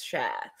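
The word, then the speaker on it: Schär: last video that um you're not saying share right stop saying sh it's share so thank you for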